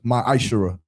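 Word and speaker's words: מעשר: it means tenth in the hebrew and it's pronounced my ishera 10 of every penny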